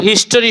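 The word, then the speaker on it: history: handsome handsome আচ্ছা আমরা যে বলি এই তোর হিস্টরি সব আমি জানি হিস্টরি তাহলে এটা কি হিস্টরি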